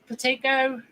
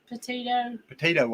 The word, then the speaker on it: Petito: Petico? It may be Petico. That ain't the way they pronounce it. Gabby. Yeah, it's Gabby. And the Petito. Petito, I think's the way they was pronouncing it.